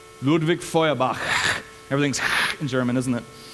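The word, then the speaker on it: Ludwig Feuerbach: famous atheist named now since I grew up in a Germanic country I can actually pronounce his name but don't worry about it his name is ludvik foak ludvik foak everything's in German isn't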